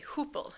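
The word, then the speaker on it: Hoople: The family came back to the US in 1924 to Hoopla, Minh North Dakota and then to Fiser, Minnesota. I should say Hoopel, North Dakota.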